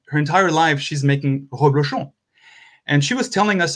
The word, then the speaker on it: reblochon: for a cheese, food again, a cheese called reblochon. Even for French people, it's difficult to pronounce.